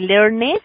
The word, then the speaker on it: learned: Si termina el verbo en una N, siempre ese ED se va a pronunciar como una D.